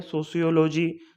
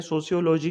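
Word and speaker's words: sociology: जो project means की सोशोलॉजी जो हमारा सब्जेक्ट होता है, इसको हम अलग अलग तरीके से प्रोनाउंस कर देते हैं, सोशियोलॉजी, सोशलॉजी और सोशियोलॉजी।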